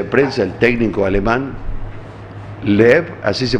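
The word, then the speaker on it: Löw: En conferencia de prensa, el técnico alemán Loeb, así se pronuncia, Loeb, dijo que no tienen tiempo para festejar, que están preocupados por la final.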